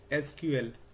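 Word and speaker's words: SQL: Question number 12 है हमारा what is एसक्यूएल? इसको हम लोग सीक्वल भी प्रोनाउंस करते हैं।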